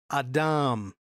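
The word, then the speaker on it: אדם: Now, how do you say man in Hebrew? Adam.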